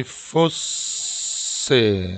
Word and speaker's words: fosse: S가 두개 있기 때문에 여러분들이 fosse, S를 굉장히 세게 발음을 하셔야 됩니다.